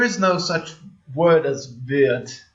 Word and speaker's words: wird: So basically, in our, how in northern German, they often say, they don't say wird, they say like wird. They change into this like EU sound, like a diphthong almost.